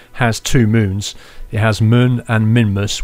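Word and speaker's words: Mün: inevitably you probably will he's currently stood on moon that's spelled muu n and the U has an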